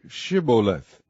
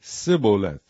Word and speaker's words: Shibboleth: If he said, Nay, then said they unto him, Say, Shibboleth. And he said, Sibboleth, for he could not frame to pronounce it right.